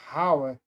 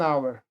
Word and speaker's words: hour: com h, só que esse h é mudo, é igual hora em português. Aqui também é hora. Uma hora. En hour você não fala hour. En hour, você vai pronunciar an hour. Por isso que é o som do aqui our você esquece o som do H.